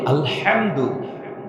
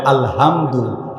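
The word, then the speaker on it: الحمد: একটা বড় বলি যদিও ভাইটি আরবিতে একটাকে হায় হত হায় হাওয়া বলে একটা উচ্চারণ হবে গলা চিপে আলহামদু এই আলহামদু শব্দের অর্থ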